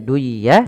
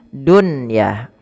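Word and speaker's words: دنيا: istilah izhar mutlak maka bukan lagi duah Tapi bacanya Dunya Dunya bimashiha w'alnaaha Shi n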